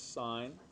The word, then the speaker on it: sin: This represents sine. And the sin, when it's written sin theta, it's actually pronounced sine of theta.